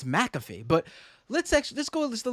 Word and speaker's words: McAfee: I've been saying McAfee, and it's McAfee.